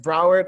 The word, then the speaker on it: Broward: know how you pronounce it how are you pronouncing it broward all right welcome to growing up there man